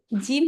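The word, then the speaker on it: جيم: সুন্দর বলছে আচ্ছা তারপর জিম হচ্ছে শক্ত করে উচ্চারণ করবেন একেবারে জিম জিম হ্যা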